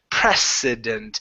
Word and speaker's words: precedent: a country, this is prez with a voiced S there, president. The other one is precedent. So the other one has an unvoiced S or S sound, even though it's a C.